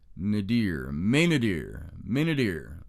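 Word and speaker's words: Maynadier: Now, Colonel Henry Maynander, M-A-Y-N-A-D-I-E-R, Maynadir, I think that's how you pronounce it.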